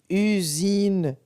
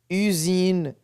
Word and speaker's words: usine: le son ce comme usine usine cuisine lorsque la lettre S se situe entre de voyelles ça se prononce ze j'espère que c'est clair